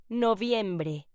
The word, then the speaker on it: noviembre: November in Spanish is pronounced noviembre.